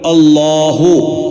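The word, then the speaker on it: الله: തുടക്കത്തിൽ അള്ളാഹ് എന്ന് വരുമ്പോൾ അള്ളാഹു വഖഫ് ചെയ്യുമ്പോൾ അള്ളാഹ് ഇതാണ് ജലാലത്തിന്റെ ഇസ്മ് അതുപോലെ അള്ളാ അളാഹുമമ അപ്പോഴും കനപ്പിച്ചുകൊണ്ടാണ് തഫഹീമോടുകൂടി അങ്ങനെയാണ് അള്ളാഹ് എന്ന് ഉച്ചരിക്കേണ്ടത് ഇനി ചേർത് ഉച്ചരിക്കുമ്പോൾ ഫിൽവസ്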